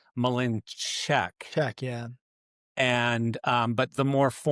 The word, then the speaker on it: Mlynczak: name," and it said Mlynczak. That's So, I've never asked ChatGPT how to say it, I guess. well, it said two different things. It said the more common way is Mlynczak, Check, yeah.